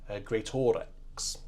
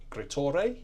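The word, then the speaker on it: Greatorex: is by Henry gorx I'm sure that's not how not how you pronounce that surname great as in g r e a t and then same word but o r e x gror perhaps let's have a go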